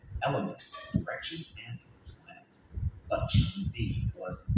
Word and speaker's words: Shang: It's pronounced Shang.